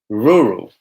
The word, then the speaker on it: rural: Okay, rural, rural, rural, rural. So the opposite of urban is rural, a rural environment, rural. I know it sounds really weird, but it's like rural.